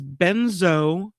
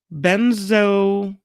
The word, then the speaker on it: benzoylecgonine: main metabolite, which is benzoylecgonine. I'll let you pronounce it. Here. That's a hard one. Here's the way you pronounce that. A banner. We'll do it together. Benzoylgonine. Then I didn't pronounce the C.